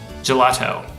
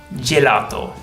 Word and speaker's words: gelato: lot d in English gelato gelato most English speakers find this tricky naki tortellini florals spaghetti